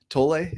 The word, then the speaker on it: Tolle: it might have been Eckhart Tolle that said tolay is that how you say it that acknowledgment